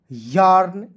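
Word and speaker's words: yarn: एम ए आर के mark Y ए आर एन यर्न।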